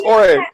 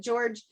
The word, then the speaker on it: Jorge: Yes, I thought he was Jorge. He had said before we started recording, he said, I know it's spelled Jorge, but I pronounce it George.